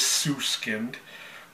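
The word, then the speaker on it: Süskind: got it right like how do you pronounce them double dot over the U and it is sue skinned I think you know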